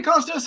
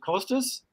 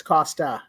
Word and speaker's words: Kostas: there he is hey Costas how are you awesome doing really good thanks how are you how do I pronounce it is it Costas uh actually it's Costa like Costa Rica Costa so you leave